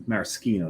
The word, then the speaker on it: maraschino: So what I do is I will buy the maraschinos, but I'm not maraschinos is the proper way to pronounce them.